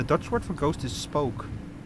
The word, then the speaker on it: spook: Uh, well, the Dutch word for ghost is spoke. Like, you know, like the English word spook. Oh, that's it's just that, but spoke pronounced as Dutch.